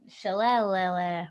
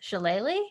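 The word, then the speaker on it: shillelagh: bonus action cast uh chalet which i'll never learn i'll never learn how to pronounce this shalayly it's perfect you say yeah um uh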